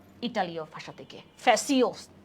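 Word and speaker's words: fascio: ইটালীয় ভাষা থেকে, ফ্যাসিওস উচ্চারণটা আমরা পড়ছিলাম, ঠিক আছে?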